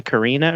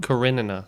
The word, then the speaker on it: Karenina: So there's a work I'm thinking of, and I might even be saying the name wrong, but it's like Anna Karina or something like that.